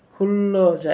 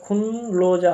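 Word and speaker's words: 근로자: খুল্লো যা, এখানে খুনলো যা হবে না, খুল্লো যা। কারণ হচ্ছে নিয়ন বাচ্চিম থাকার পর যদি রিউল থাকে উপরে, তাহলে সেই নিয়নের উচ্চারণটা রিউল হয়ে যায়।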